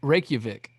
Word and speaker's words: Reykjavik: fan base in that's how you say it reykjavik reykjavik iceland there it is we've got a